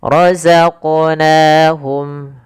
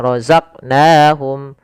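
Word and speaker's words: رَزَقْنَاهُمْ: Pada lafal qof ini kita apa namanya? Kita pantulkan huruf qfnya. Kesalahan yang terjadi adalah tidak memantulkannya. Misal roqnahum harusnya itu yang pertama. Keselahan kedua menambahkan hamzah misalnya rozaq. Rozaqnahum rozaq. Nah, harusnya mengalir.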